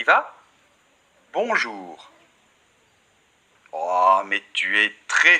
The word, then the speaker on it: bonjour: des devant geagea 1 cette partie seulement donc bon jour ensuite très important les deux lettres aux é-u